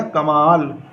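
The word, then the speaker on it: کمال: तो इसकी हिज्जे करेंगे, किस तरह करेंगे, काफ मीम अलिफ कमा, और लाम साकिन, इस पर कोई हरकत नहीं है, तो पढ़ा गया कमाल।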